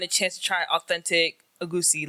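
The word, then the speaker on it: egusi: Yeah, I have the way you pronounce it is funny. Agushi. Yeah, we say agusi.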